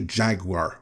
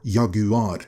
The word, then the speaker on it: Jaguar: There is an even bigger example of that making headlines right now, namely Jaguar or Yaguad, which I guess is closely to how connoisseurs want to hear it pronounced.